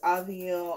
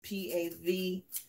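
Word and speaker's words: Paville: with an A, because a lot of people didn't know how to pronounce her name. And they would say Pavil, and the P is silent.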